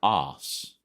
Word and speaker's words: arse: I always found it funny that it was spelled arse, but pronounced os.